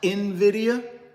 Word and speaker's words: Nvidia: talk about real estate and be thinking about Nidia I got to address this because I know